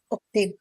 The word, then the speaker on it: أختي: Ukhti.